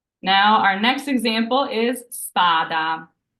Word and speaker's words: spada: our next example is spada so we have an S here it's not standed by vowels so it's a true s and spada means sword